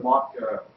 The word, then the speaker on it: MOQ: So what other mock tools do you like, or do you know that might be more modern?